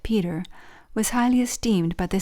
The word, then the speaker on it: Petre: Related to the Stortons, Norfolks, Arundells, the Petre family, pronounced Peter, was highly esteemed by the Society of Jesus.